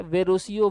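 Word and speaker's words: Verrocchio: तो इसका शिक्षक है वेरोसियो, वेरेसियो कुछ भी कह सकते हैं, तो वेरोसिया यहाँ पे लिखा, वेरासियो, वेरोसियो कुछ भी कहिए, सही जवाब हो जाएगा।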